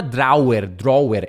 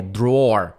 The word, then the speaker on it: drawer: Cuidado que não é drawer, é drawer, tá? A palavra gaveta, aqui que ele tá falando, a pronúncia é drawer. É literalmente drawer, tá?